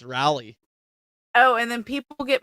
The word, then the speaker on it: Raleigh: People get mad at me on how I say Raleigh, and Riley. You say Riley and it's Raleigh.